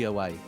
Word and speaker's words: Iwai: Yeah, because when it comes to I's in Japanese, it's pronounced as A. So it's Yuki Iwai.